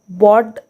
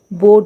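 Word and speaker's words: board: तो एक यहाँ पे एक्सेप्शन है, ये जो वर्ड है बी ओ ए आर डी, यहाँ पे भी देखिए ओ ए के बाद आर होता है, तो इसे हमें बॉड नहीं पढ़ना है। ठीक है, रूल के अकॉर्डिंग अगर हम जाएंगे तो ये इसको हम बॉड पढ़ेंगे, लेकिन इसका उच्चारण बॉड नहीं होता है, बोर्ड होता है। यहाँ पे ओ ए का उच्चारण ओ होता है।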